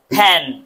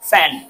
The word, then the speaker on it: fan: দেখো, একটা হচ্ছে দুই ঠোঁট বন্ধ করে উচ্চারণ করেছি আমি, ফ্যান, ফ্যান, ফ্যান। আরটা হচ্ছে উপরের দাঁত আমি নিচের ঠোঁটের সাথে লাগিয়ে উচ্চারণ করেছি, ফ্যান।